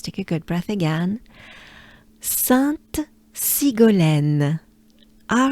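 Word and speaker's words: Sainte: of sun is sat so basically the only difference is you pronounce a t sound sant sat sant sant all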